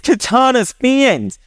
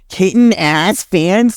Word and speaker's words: Katana's fans: You pronounced my goddamn name wrong. I'm mostly gonna go over Kit and us fans video. The hell's wrong with you? It's Katana's fans. Katana's fans. Like, bro, what was the pronunciation?